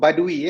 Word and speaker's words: Badui: Okay, ataupun Badui, bukan Badawi, Badui.